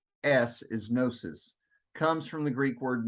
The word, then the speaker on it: gnosis: but the name gnosticism g-n-o-s-i-s is gnosis comes from the Greek word gnosis which means knowledge and you notice by the way the GE is silent so it's like it's not there um so the name